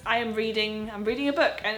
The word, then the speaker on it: Reading: pronounces this wrong um I was convinced it was reading um but once I moved to the UK I found out it's reading I don't think there is